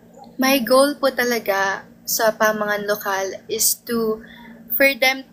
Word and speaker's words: Pamangan: So yung pronunciation niya po is Pamangan and yung Pamangan po is Kapampangan word meaning pagkain.